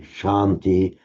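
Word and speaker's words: śānti: I've written it wrong it's shanti with a long a in Sanskrit Shanti or Shanti, but it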